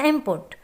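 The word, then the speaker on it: input: जैसे इनपुट। इस तरह से एन और पी मिलकर एम की साउंड दे रहे होते हैं।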